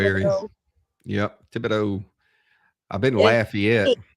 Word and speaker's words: Thibodaux: Thibodaux is spelled with an E instead of a A. Yeah. Everything's AUX here at the end. Actually, it's spelled Thibodaux. After the D, it's EAU and no X.